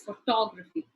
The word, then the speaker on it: photography: to recognize that the stress would go on this second syllable photography if I say photograph II or photograph II the pronunciation changes so it is photography likewise if the suffix